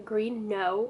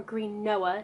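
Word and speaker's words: Green Knowe: with his grandmother in Greene know or Greene Noah depending on how you want to pronounce this there are the ghosts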